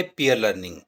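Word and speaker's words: peer learning: आज का शब्द है पियर लर्निंग पियर लर्निंग के शाब्दिक अर्थ पर जाएं तो पियर का मतलब है साथी और लर्निंग यानी सीखना इसका सही उच्चारण है पीयर लर्निंग पीयर लर्निंग एक ऐसा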